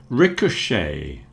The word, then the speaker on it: ricochet: Ricochet also has the sh in it.